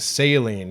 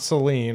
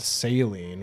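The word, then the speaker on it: Céline: whole thing all right saline yeah that's how it's pronounced it's not Celine or salt I I thought it'd be Celine uh in game it's pronounced saline which is you know like the solution uh but her personal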